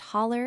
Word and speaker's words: holler: The correct form of this appears to be hello or halo a slash but in America it is pronounced holler and usually represented in print by/hollow slash or hollow.